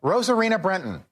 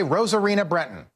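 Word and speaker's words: Rosarina Bretón: Just say Rosarina Brenton. But for whatever reason, we all feel the need to pronounce it like we're living in Mexico, like we're living in a country where Spanish is the native tongue.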